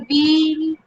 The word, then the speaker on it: ville: And Ville, if you remember, I told you the rule: if it is double L, it is silent. But this is an exceptional word, so यहाँ पर double L को हम pronounce करेंगे. So Ville de Genève, and Ville means city.